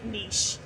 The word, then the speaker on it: niche: I typically say niche. That is actually the correct answer.